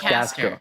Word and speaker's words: Castor: Is it Meat It's Castor. Caster? It's C-A-S. It's Caster. It's not only me. It's just Castor.